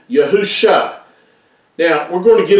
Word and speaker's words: Yahusha: scriptures and how we know that it is pronounced as yahusha and not all these other variations that you